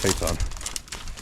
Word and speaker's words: Phaeton: I call it a photon, like a photon torpedo, but I think it's actually pronounced Phaeton.